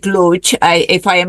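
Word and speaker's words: Łódź: conference Eura conference in Lodge. They pronounce it Luch.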